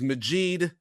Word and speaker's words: Majeed: I give a little bit of a dramatic pause, and I'll often start with, "Ladies and gentlemen, my name is Majeed like magic."